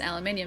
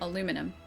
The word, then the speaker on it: aluminium: But, yeah, aluminium, because it's spelled differently, is aluminium, not aluminum.